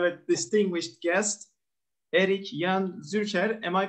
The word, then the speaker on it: Zürcher: We have a distinguished guest, Erik Jan Zürcher. Am I pronouncing it right? Yeah, that's about right. I know a little bit German. It's like Zürcher. Zürcher, yeah.